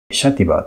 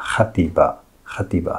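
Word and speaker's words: Xàtiva: をご覧いただきますシャティバーというのは前回も言いましたがバレンシアの言葉で読んだ場合はそういう発音になりますがスペインの標準語では Happy bativa と言います 1 枚目の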